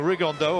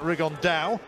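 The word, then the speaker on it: Rigondeaux: about three weeks and he's talked about fighting rig on though or as he's correctly pronounced with the uh spanish accent rig on dao and look two absolute geniuses but it could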